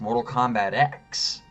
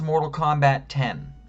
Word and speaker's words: Mortal Kombat X: Kombat 10 it's pronounced Mortal Kombat X it's Mortal Kombat 10. the previous game was Mortal Kombat 9. this one's Mortal Kombat 10. the x is a Roman numeral the game that came after it is Mortal Kombat 11.